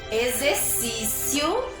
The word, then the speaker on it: exercício: Ó, eu trouxe exército, escrito com X, mas tem um som de Z. Exame, exercício e exato. Aqui eu tenho algumas palavrinhas escritas todas com X, mas com som de Z, Z, tá bom?